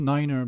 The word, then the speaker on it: nine: of mercury decimal 92 niner because that's IO pronunciation as well so you